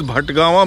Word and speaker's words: Bhatgawan: Actually, he stayed with his, the actual place, name of the place is Bandagama, that's Bhatgawan. The real name is Bhatgawan, mispronounced as Bandagama.